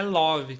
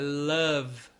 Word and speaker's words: love: Não é love que fala, é love. Então é quase um som de A aí, vamos dizer assim, né? Love. E o E do final quase não é pronunciado, né? Palavras que terminam com E. Não se pronuncia esse E final.